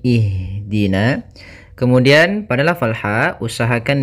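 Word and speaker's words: اهدنا: Apabila huruf ketiganya fat e maaf kasrah atau fathah, maka kita baca hamzah di awal hamzatul wasalnya itu kasrah. Maka kita baca di sini bukan uhdina tapi ihdina.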